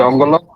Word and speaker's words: Dongola: Dongola or Dongolo? Yep. How do you pronounce it? Dongolo. Yeah, Dongolo.